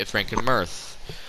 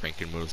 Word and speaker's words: Frankenmuth: it it's spelled frankenmuth i'm sure it's normally pronounced frankenmuth but i say frankenmurth because i'm just like that i guess but anyways